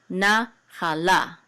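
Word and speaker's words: נַחֲלָה: Okay, this etnachta is the accent mark, so the accent is on the last syllable, but this syllable is a little bit stronger than this one. So this nachala, nachala.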